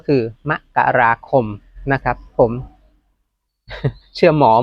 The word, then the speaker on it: มกราคม: ที่ 10 7 ม มกราคม นะ ครับ อ่าน ว่า มกราคม นะ ครับ ไม่ ใช่ มกราคม นะ ครับ ถ้า เป็น อ่าน อ่าน เหมือน เมื่อ ก่อน แรก ๆ จะ อ่าน กัน ว มกราคม แต่ ว่า ถ้า ตาม